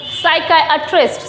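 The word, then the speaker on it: psychiatrist: Next, सबसे last में साई, साइकाइट्रिस्ट, साइकाइट्रिस्ट।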